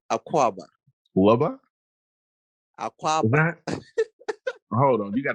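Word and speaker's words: Akwaaba: wait okay teach me something go ahead say aquaba aqua hold on you got to spell this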